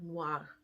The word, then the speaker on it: noir: like a wha sound so the way you would pronounce it phonetically is n w a r noir anyway the r is soft at the end just a little just